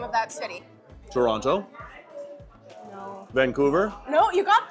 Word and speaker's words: Toronto: They don't have time to pronounce all of the letters in Toronto.